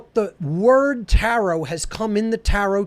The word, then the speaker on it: tarot: And that is the tarot itself. Okay, it's a phonetic equivalent, T-A-R-O, the last T is silent.